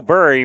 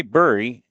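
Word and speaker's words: Buri: Number 14, Joe Burry makes his way to the plate. And I want to make, is it, I say Burry, and it's spelled B-U-R-I, like Barry, like you bury somebody.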